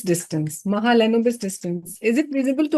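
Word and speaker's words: Mahalanobis: Let me pronounce it. It is Mahal Lenobis distance. Mahalenobis distance.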